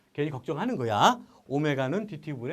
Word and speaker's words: 오메가: 만나게 돼 그리스 문자고 이렇게 생긴 문자가 오메가인 거 들어본 적 있지 이거 오메가의 소문자 제발 이거를라고 읽으면 아유 이거 정말이 너무 망신 나가는 거야 오메가 오메가 DT DS